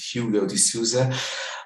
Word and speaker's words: Hugo de Sousa: uh let's say uh my name is in english might be pronounced hugo de souza uh i'm running innovation